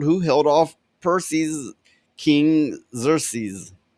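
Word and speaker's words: Xerxes: held off Percy King xerses is how you say it xeres SE okay they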